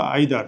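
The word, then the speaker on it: either: এবার ধরো আমরা যদি লিখি ইদার বা আইদার, তুমি যেটাই প্রোনাউন্সিয়েশন করো না কেন দুইটাই কারেক্ট।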